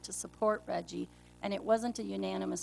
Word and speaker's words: REGI: The acronym is REGI. That's how we've pronounced it.